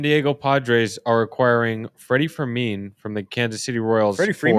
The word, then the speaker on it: Fermin: my spreadsheet, but Freddie Fermin. Is it? Yeah, I didn't know if it was Furman or Fermin. It's Fermin. Fermin is the way to pronounce it, I believe.